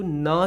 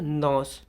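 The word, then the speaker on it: gnaw: अगला पॉइंट है some animals like rabbits, squirrel and mice have very sharp front teeth to गनॉ seeds. इसको देखो क्या बोलते हैं? नॉस। ठीक है, नौ बोलते हैं, ग्नॉ नहीं बोलेंगे।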